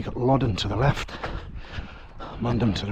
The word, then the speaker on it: Mundham: You got Loddon to the left, Mundham to the right. That's how you pronounce it.